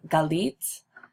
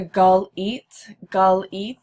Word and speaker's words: Galit: I pronounce my name Galit. See the gull eat, Galit.